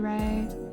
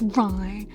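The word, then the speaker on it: Rei: songs sung by Adachi Ray. so upset that's not pronounced rye. I don't know why I thought it was pronounced rye, but for a very long time I thought that name was pronounced rye.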